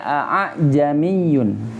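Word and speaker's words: أَأَعْجَمِيٌّ: Kalau menurut Anda nih bukan mirip ha, tapi tetap a, yang keduanya tetap a. Misalnya di kana a, jadi bacanya jamiyun, jamiyun, jamiyun, bukan jamiyun. Jadi tidak dengan diganti dengan ha, bukan, atau disamarkannya lebih ke ha, bukan.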